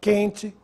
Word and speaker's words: quente: pronunciado nas seguintes palavras: que sem trema, quente, questão, quesito. Você notou se eu pronunciei a letra U? Não.